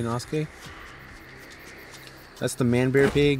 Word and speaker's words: Inosuke: definitely sounds like you're nosuke you know skating like I said I'm sorry about pronouncing anything wrong some of you guys might say no suke when I say inosuke that's the man bear